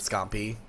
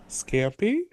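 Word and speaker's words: scampi: I'm going to try and make some shrimp scumpy I think later too cuz I have this big bag of like that. What? Scumpy. Scumpy. Is it How do you pronounce it? Scampy.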